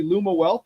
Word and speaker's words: Lumiwealth: ago which was fun um your product's awesome pronouncing it correctly Luma wealth right yep yep um and this is the